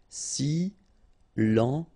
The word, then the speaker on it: silencieux: Final X not pronounced, okay? This part here will be pronounced like cieux, okay? Then you get silencieux.